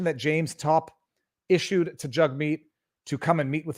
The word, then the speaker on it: Jagmeet: it jug meat to be i was always pronouncing it jagmeet and apparently it's pronounced jug meat so let's hear this let's hear this this